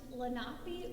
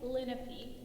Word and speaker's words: Lenape: we're looking at today can be pronounced lenape or lenape i'm going to say linnappy so the lenape indians